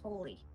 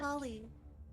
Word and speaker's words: Holy: See, it starts with holy. Fent. Holly. Like the plant. It's like a pronunciation thing. You say holly, I say holy.